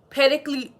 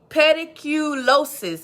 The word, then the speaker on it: pediculosis: um uh pedicle let me say it right pedicle pediculosis i always get tongue tied pediculosis pubis or